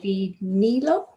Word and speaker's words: vinilo: Y si le damos un disco de vinilo de Juan Gabriel.